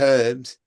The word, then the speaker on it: herb: get a away with herbs yes you're I would agree with you there herbs should be pronounced herb because there's a H in it I get it well